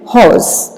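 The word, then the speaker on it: hoarse: इसको हम प्रोनाउंस करते हैं horse.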